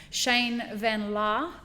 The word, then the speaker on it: Shane van Laar: He's the owner of Collective Roasting Solutions, and I have Shane van Laar from, am I saying that right?